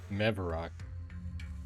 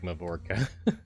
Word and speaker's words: Mevarok: Mevarok. What on earth was I pronouncing that as? Now that I look at it again, it doesn't even look like Mavorka.